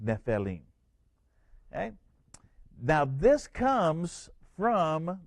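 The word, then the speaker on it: Nephilim: for giant is nephelim some people call it nephelium but it's nepheline okay it it's actually pronounced nepheline okay now this comes from the root word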